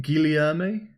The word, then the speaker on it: Guilherme: It's more like Guilherme. I was going for more of a French attempt at saying the name, but it is Portuguese-Brazilian. Guilherme, welcome to the stream, and Christopher, welcome to the stream.